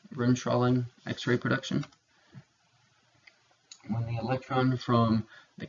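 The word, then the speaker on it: Bremsstrahlung: brim strolling is the way that this is pronounced Rim trolling x-ray production electron from the cathode interacts with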